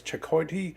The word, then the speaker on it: chayote: mushrooms, and these things, which are called chakoyas. It's spelled like, or it's chakote. It's spelled like coyote, except with a CH at the front.